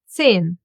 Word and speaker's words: zehn: Zehn. The silent H in the middle of the word and the Z gets pronounced as s.